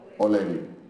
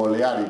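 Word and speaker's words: O'Leary: querido Liceo Oleri, u Oleari, como dicen los caraqueños. Yo siempre les digo que la pronunciación correcta, porque así me enseñaron mis profesores, es Oleri. Pero en Caracas y en el centro dicen Oleari, porque hay varias instituciones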